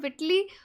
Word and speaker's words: Whitley: विटली fund for nature, आप विटले बोलें या विटली बोलें, बोथ आर करेक्ट। विटली प्रोनाउंस किया जाता है वैसे ब्रिटिश और यूके इंग्लिश में।